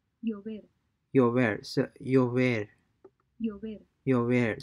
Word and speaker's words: llover: Llover. Llover. So llover. Llover. Llover. So LL is replaced by an Y in terms of pronunciation.